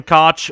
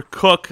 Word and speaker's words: Koch: sometimes you know sam koch or cook i guess apparently it's pronounced um yeah he'll be